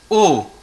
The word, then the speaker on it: eau: How to pronounce it? O. E-A-U is O.